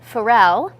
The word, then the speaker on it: Pharrell: well sad news on to other news um Pharrell as I was recently informed did I pronounce that right yeah okay good um he's